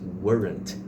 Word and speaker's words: weren't: E were com o not weren't. Weren? Mas na hora de pronunciar, quando você tá falando rápido, esse T ele desaparece.